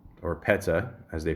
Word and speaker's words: PETA: age of three and campaigns for P or Peta as they pronounce it and in defense of animals well